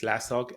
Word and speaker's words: SLASOG: In my case, it's slasog, S-L-A-S-O-G, right?